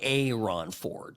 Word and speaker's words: Aaron Ford: But he goes by Aon Ford. So just this where my I always want to emphasize the A in respect to how he wants to pronounce his name.